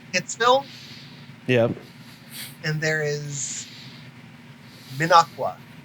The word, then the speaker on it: Minocqua: Minocqua, yep. Minocqua. Mm-hmm. Minocqua. Yeah. Like I said, the trick to pronouncing Wisconsin cities is just say them as they are spelled, Mm-hmm. which sounds ridiculous, except it's correct.